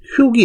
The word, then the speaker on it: 畜: 근데 아니면 짐승축 그렇게 부르는데, 실제 요 축자를 사진을 찾아보면요, 소리가 두 개가 있어요. 축이 있고 하나는 흉이 있어요. 흉. 학생을 훈육한다. 그 말 들어봤죠? 훈육한다 할 때. 요 흉으로 읽을 때는 기르다라는 뜻이 있을 때는 흉으로 읽어야 돼요.